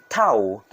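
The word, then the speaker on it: towel: or take a bath Tau Tau British not two syllables but only one syllable or a little bit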